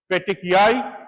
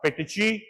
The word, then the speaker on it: petechiae: হ্যাঁ এইটা পেটেকিয়াই বা পেটেচি পেটেকি যা কিছু করতে পারবে সব চলে প্রথমটা আমেরিকান তারপরটা ফ্রেঞ্চ তারপরটা ইউকে ঠিক আছে পেটেকিয়াই পেটেচি আর পেটেকি purpura when the size